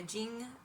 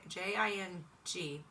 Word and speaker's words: Jing: that's the Ying the Jing it's j i n j j i n g but I believe it's Jing like Ying Jing anyway I apologize if